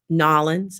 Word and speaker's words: New Orleans: I'm trying to get, if you guys know that I travel, and I went to New Orleans and Nolans, that's how you say it.